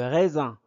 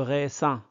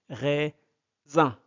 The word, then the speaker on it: raisin: de la cuisine le raisin le raisin R et et R le R S se prononce Z entre deux voyelles entre deux voyelles devient Z le on ne prononce pas le ressin le raisin donc s entre de